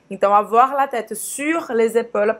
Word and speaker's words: sur: Então avoir la tête sur les épaules. Presta atenção aqui na pronúncia sur. Faz a boca do U e fala aí.